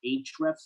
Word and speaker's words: Ahrefs: stuff and other systems i never understood how to say it though it's technically like age reps right but yeah i call it yeah ahrefs i think now you've